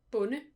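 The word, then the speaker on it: bonde: Farmer in Danish is bun. Yes. Do not pronounce the D.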